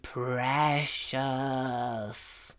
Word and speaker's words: precious: called The Ring my precious my precious what precious pre long R Precious Precious the vowels in this